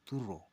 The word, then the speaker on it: turo: Kata turo adalah kata turus. Karena kata turus ini diucapkan oleh orang nagilaran dengan menggunakan dialek Melayunya, maka bunyinya seakan menjadi turo.